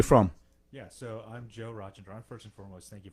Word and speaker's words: Rajendran: I have to say, Joe, how do you pronounce your last name? It's Rajendran. Rajendran? Rajendran. That's right.